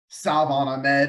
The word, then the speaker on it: Salvon Ahmed: Salvon Ahmed is how it's pronounced, by the way, and Malcolm Brown are behind Myles Gaskin.